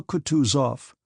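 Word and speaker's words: Kutuzov: General Coutus off said Bonsky speaking French and stressing the last syllable of the general's name like a Frenchman has been pleased to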